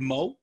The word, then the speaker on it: Moe: you guys welcomed uh uh i hope i'm pronouncing his last name correctly it's richard moe yes you are okay he's you guys brought